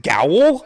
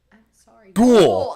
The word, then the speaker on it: ghoul: It's did you say Haunted Gowl? Oh, sorry. I always say it like that. I said it wrong. Okay, I'm sorry. Ghoul.